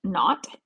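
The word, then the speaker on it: naught: of any substance so this degree sign is pronounced not n a u g h t and this means at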